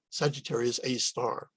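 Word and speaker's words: Sagittarius A*: star up above it sagittarius a star is how it's said and the location of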